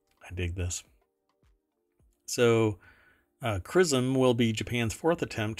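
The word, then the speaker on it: XRISM: the X-ray Imaging and spectroscopy Mission or uh X rism pronounced crism um will launch at 9:30 a.m.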